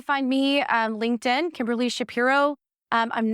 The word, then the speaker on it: Shapiro: number everything spell your Shapiro s h a p i r oh please it's spelled just like it sounds y'all yep the normal way and Stage search Partners